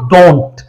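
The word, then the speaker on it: don't: तो डू और नॉट को मिलाकर बन जाता है दोस्तों डोंट, और अमेरिकन एक्सेंट में आप इसका टी साइलेंट कर सकते हैं।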